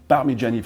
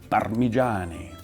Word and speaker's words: Parmigiani: Parmigiani Fleurier, you pronounce the name just like the cheese, but of course, if you say it the Italian way, well, you do have to roll a little bit this R. Parmigiani.